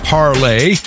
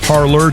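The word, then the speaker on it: Parler: it is in fact pronounced parle looks like parlor to us English speakers but no it is parle as in the French parle they handle their Derek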